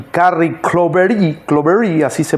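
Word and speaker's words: Cloveree: Clovery, así se pronuncia.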